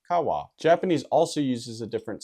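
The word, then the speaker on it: 川: I think of river I think of car wash which actually helps me with the pronunciation which is Kawa Japanese also uses a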